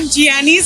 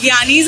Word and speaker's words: Giani's: इट्स नॉट जियानीज, इट्स ज्ञानीज ice cream and this is new outlet in कौशबा।